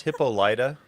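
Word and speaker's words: Hippolyta: It's pronounced Hippolida.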